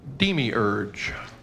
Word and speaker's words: demiurge: was a total guess are there any alternate pronunciations the british sometimes say demi urge wait did he break